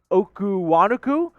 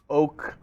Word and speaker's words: Okonkwo: Okuwanuku.